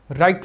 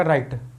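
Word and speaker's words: write: आप देखिए जैसे देखिए डब्लू आरआइटी लिखा हुआ है अब इसको क्या पढ़ोगे राइट पड़ जाएगा राइट तो यह इसका कोई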